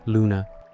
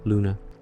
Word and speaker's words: luna: It's pronounced like oo, similar to the sound in the English word moon.